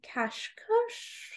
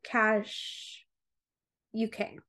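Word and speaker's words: Kashuk: we go um Sonia cash UK so it's Sonia k-a-s-h-u-k say I like to say it like my old dog cash who is a great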